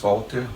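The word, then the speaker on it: Valter: My name is Walter with the V, V-A-L-T-E-R. Yeah, in Portuguese, in German, they spell with the V, but nowadays they do with the W and you still pronounce them Walter in Portuguese.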